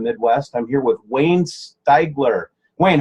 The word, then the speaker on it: Steiger: I'm here with Wayne Steiger.